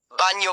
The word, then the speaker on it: bagno: The consonant combination gn produces a sound similar to the ny in the English word canyon. This sound is very common in Italian. Examples. Lasagna, lasagna. Bagno, bagno, bathroom.